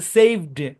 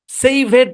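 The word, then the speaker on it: saved: কিলে না ঠিক আছে সেভ এরকম সেভ আমার মূল ভার্বের উচ্চারণ ঠিক রাখতে হবে ভাই মূল ভার্বের উচ্চারণ ঠিক রাখতে হবে সেভেড এরকম না সেভেড না সেভ এরকম বুঝছেন মনে রাখবেন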